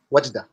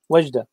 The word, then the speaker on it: Wajda: Wajda? Mm-hmm. How do you say it? Wajda? Sahih. Wajda. Wajda.